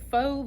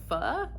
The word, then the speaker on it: faux: We have a faux love story, but I think it's pronounced pho, but I know in this case it's supposed to be faux, like fake, so I'm gonna call it a faux love story by Lone Lee.